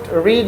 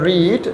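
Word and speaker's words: read: হবে এটার উচ্চারণ হবে রিড, যখন এটাকে ভার্ব 3 বলবা অথবা 2 বলবা উচ্চারণ করতে হবে রেড, রিড বলা যাবে না।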